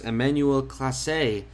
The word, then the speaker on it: Emmanuel Clase: for the indians getting the loss it was emmanuel clase i believe his name is pronounced he's now three and four in the